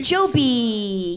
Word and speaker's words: Joby: Joby. Joby. Yay. Uh yeah, helicopters that rhyme with Kobe.